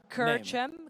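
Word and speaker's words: Kerċem: And pronounce the name of that winning team from last year. It's a special Maltese Kerchem.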